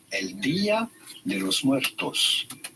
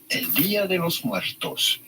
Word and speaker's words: Día de los Muertos: In Spanish or Mexican, this is usually pronounced as El Día de los Muertos. El Día de los Muertos. Día meaning day, de los Muertos of the dead.